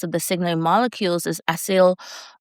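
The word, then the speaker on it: acyl: One of the most common class of the signaling molecules is ail asil. I'm that's how I'm going to pronounce it.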